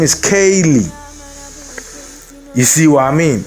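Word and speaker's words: Kayleigh: your name is charlie if your name is spelt k a y l e i g h your name is kaylee you see what i mean so when the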